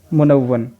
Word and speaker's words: मुनव्वन: यह 'मुनव्वन' है; तशदीद को वाव पर होना चाहिए था , लेकिन इसे नून पर रख दिया गया। यहाँ यह 'मुनव्वन' है, यह शब्द मुनव्वन, मुनव्वन, मकसूर पढ़ा जाएगा; तो उत्तर मुनव्वन होगा,